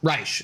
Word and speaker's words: Reich: It's Rash, I think, is how you pronounce it. You probably understandably like you wouldn't want to uh unfortunate last name. Yeah, I think you I understand why you wouldn't want to pronounce it like Reich.